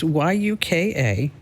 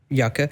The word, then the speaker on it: Yuka: It's Yuka. Yucka.